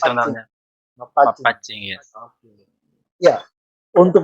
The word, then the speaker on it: Mappacci: Cara Mapacing, pengucapan double C Mapacing. sebenarnya. Mapacing.